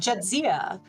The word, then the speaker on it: Jadzia: Playing a name that I'm going to try to pronounce. Jadzia Gracegiver. I think I got that. You were close. It's right. Jadzia.